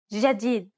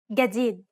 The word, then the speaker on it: جديد: In Egyptian Arabic, this letter is pronounced like a regular English G, as in game. Let's listen to the difference one more time. In Standard, جديد. and in Egyptian. جديد.